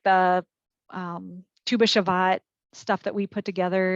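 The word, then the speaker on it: Tu B'Shevat: Tu B'Shavat.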